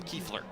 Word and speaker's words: Kiefler: Kiefler, the pronunciation on number 1, Tom Kiefler.